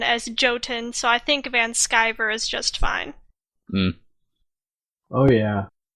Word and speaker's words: Vanshiver: you're an American so everybody's going to go with the German pronunciation not the random American pronunciation well I'm American so